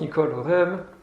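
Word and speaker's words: Nicole Oresme: In French it's pronounced Nicole Orem.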